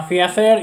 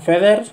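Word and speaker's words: feathers: comentario tengo que decirlo yo antes pronunciaba fzer y no es fzer son feders las plumas estas azules gracias al que me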